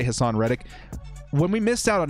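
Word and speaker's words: Haason Reddick: Someone said I was saying it wrong. I'm going to say Hassan Reddick.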